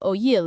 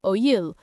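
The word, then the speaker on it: oïl: over time evolved into oyil in Old French. Ask someone in northern France back then and they would say oyil. Over time, northern pronunciation transformed oyil into today's oui, while in southern France,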